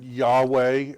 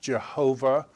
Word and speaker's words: YHWH: god god's proper name some people pronounce it yahweh others jehovah but this is god's